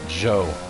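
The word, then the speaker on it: Zhou: guanyu there it is that guy's name is joe but it's spelled z-h-o-u z-h-o-u pretty cool eat at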